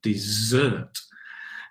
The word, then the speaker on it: dessert: you in the restaurant stress on the second dessert dessert is well is